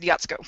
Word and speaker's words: Jaczko: talk about uh well my last name is pronounced yatsuko wow hungarian it is hungarian and it throws everyone